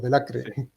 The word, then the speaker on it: Delacre: a sí no o de la creer en argentina decimos de la cre pero es francés y se pronuncia y francias distintas a la argentina de la que pronunciamos